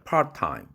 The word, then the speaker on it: part-time: 그러나 그건 잘못된 영어 발음식이죠. 파트타임이 아니라 part-time, part-time, part-time job.